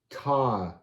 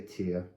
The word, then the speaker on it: Tire: Or you could say tire. Tire. Tire. Because the line is giving you the long I. Tire. Tire. I like to say tear.